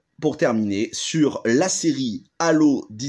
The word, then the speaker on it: Halo: Alors tout de suite, c'est mieux de le prononcer en anglais parce qu'en français ça donne Halo, et Halo ça fait penser à Nabila, et ça c'est pas cool. Donc Halo, voilà comment va se décomposer cette vidéo.